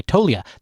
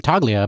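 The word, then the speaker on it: Toglia: like he's huge yeah he spells his name tolia but he pronounces it toia and he missed he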